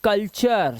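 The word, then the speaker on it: culture: अब देखिए यहां पर टी यू आर ई टी यू आर ई से बना चर। क्या बन गया? चर टी यू आर ई से बन गया चर। जैसे कल कल और यहां पे चर तो कल्चर संस्कृति।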